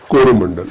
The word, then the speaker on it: Coromandel: Originally Cholamandal. The European mispronounced and became Coromandel.